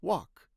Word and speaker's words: walk: It's walk. Walk. Walk. Walk. Like walk, right? Walk. Of course, forget the L.